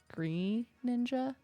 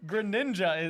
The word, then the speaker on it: Greninja: name one more character um usually hear Greninja pronounced as green ninja no what Greninja is that's how it's said in the game